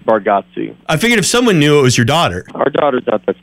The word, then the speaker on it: Bargatze: Is it Bargatze or Bargatze? Was I hearing things wrong? Did they introduce you? No, most say it Bargatze.